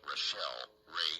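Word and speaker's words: Rachelle Rae: And of course, Rochelle Ray is spelled Rachelle. That's Rochelle Ray, R-A-E.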